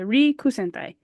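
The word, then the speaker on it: 陸戦隊: Rikusentai. Did I say it right? Yeah. Okay, perfect. The Rikusentai.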